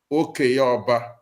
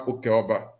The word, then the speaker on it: Okeoba: You see, now you see our own dialect has dropped P and kept K. Now we have Okeoba. Hmm.